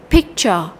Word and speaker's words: picture: âm vậy Ở đây cô thấy là cái dấu phẩy nó nằm trước âm tiết là thích cho nên cái từ cái âm thích này nó sẽ là trọng âm a picture picture chúng ta sẽ đọc thích nó cao hơn nó rõ hơn là nó mạnh hơn là âm trở chúng ta nhớ lại